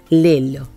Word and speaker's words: Lello: Si nuestros oyentes o quienes nos ven pueden entrar a las librerías Lelo, se escribe Lello, en Porto, Portugal, son dos librerías.